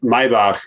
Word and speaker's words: Maybach: Maybach, if you want to prefer the correct pronunciation.